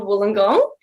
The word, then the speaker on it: Wollongong: how is everybody good what can you just pronounce that university for me it's so funny no one in the states can ever say that one it's called wollongong actually it's the only university